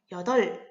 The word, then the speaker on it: 여덟: 여덟 이렇게 발음을 하는데요. 받침, 리을, 비읍 중에 리을 하나만 살아남았죠.